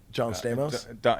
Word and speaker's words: John Stamos: John Stamos. It rhymes with Don Ramos.